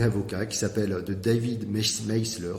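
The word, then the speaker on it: Maister: D'un point de vue professionnel, je recommande un livre sur la gestion des cabinets avocats qui s'appelle de David Meisler, s'écrit Maisler, qui s'appelle True Professionalism.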